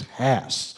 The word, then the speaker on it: Hass: she said, now remember, his last name is Hass. Hass, he's my neighbor. It rhymes with Donnie. But it's Hass. Yeah, people don't understand it, so when I say it's ass with an H in front of it. It's Hass.